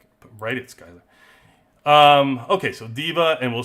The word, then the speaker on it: D.Va: And that is they give 4 mythics to DVA, right?